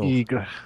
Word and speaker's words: Bigre: Bigre. Bigre. Or Bigre, if you're American. Bigre. Bigre. It's like tiger, but spelled wrong.